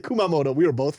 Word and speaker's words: Kumamoto: It's Kumamoto. No, it's not. Koutamoto. There was 100% a um a T in there. Kumamoto does have a T in it in the in the beginning.